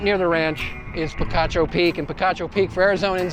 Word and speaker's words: Picacho Peak: near the ranch is picacho peak and picacho peak for arizonans is quite a bit of history there it is pronounced picacho peak not pikachu peak i know millions of